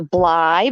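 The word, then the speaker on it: Bligh: candies i guess but she said she was a bly but her name was spelled b-l-i-g-h it wasn't spelled like them but candy's she's not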